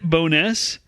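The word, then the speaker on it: Bo'ness: has a longer name they call it bonus but the name is actually burrow stewness oh bro okay yeah yeah so it's b-o apostrophe it's on the south side yeah ness but yeah when i when i say bonus just think burrow stewness okay that's i can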